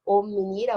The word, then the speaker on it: Ominira: Ominira, O-M-I-N-I-R-A, como se fala, se escreve.